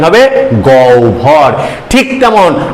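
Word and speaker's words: গহ্বর: ভর অভর অর্থাৎ এর উচ্চারণটা গ হয় বের উচ্চারণ হবে গৌ ভর ঠিক তেমন আ হয় বয় আকার দন্ত এর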